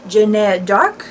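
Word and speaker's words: Jeanne d'Arc: name correctly and it's pronounced like Jeanette dark so yeah it's kind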